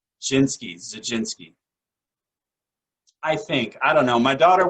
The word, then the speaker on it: Zajdzinski: Zajdzinski. So I tell people, you probably shouldn't drink gin and go skiing. Zajdzinski.